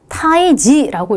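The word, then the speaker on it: 退治: 퇴치는 타이지라고 읽거든요. 여기선 지라고 읽죠.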